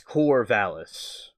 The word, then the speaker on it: Corvallis: You know, see, I'm glad that you helped the pronunciation because I'm thinking it looks something like Corona, but it's not. It's Corvallis.